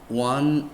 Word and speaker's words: one: sounds like hua starts with o example a one eyed man wah is a consonant sound though